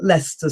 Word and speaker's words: Leicester: the centre of London, there's a square called Leicester Square.